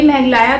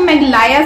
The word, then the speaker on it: मेघालय: अच्छा, मैं ना इसको मेघलाया समझती हूँ क्योंकि प्रोनाउंस करने में मुझसे मिस्टेक हो गई, बट मैं हमेशा इसको मेघलाया करके ही समझती थी। बट ये मेघालय है, मेघालय, आई थिंक मेघालय।